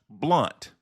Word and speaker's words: Blount: it's actually correctly pronounced blunt, as in not sharp, but blunt.